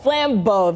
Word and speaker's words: Flambeau: you say that parade one more time Lambo Flambeau there we go this is my first year